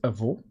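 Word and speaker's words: avô: for grandpa, which is avo. It has like that basically sound in the O where it kind of sounds like the English O.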